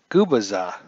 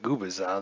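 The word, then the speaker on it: Gubicza: So the lineups today, or the pitching today actually, for the Kansas City Royals, Mark Gubaza. And I think I'm pronouncing that right now.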